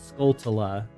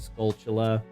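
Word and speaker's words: Skulltula: And yes, that is the correct way to say that it's not scaltula, it's the end of the word tarantula. So it's scaltula.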